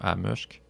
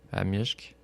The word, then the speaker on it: amishk: Le I se prononce I, mais des I. fois, il se prononce comme un E, comme Amushk. Non. Amishk. Amishk. Amushk. Amishk. Il y a un I, là. C'est un I, mais il est un petit peu sur le E.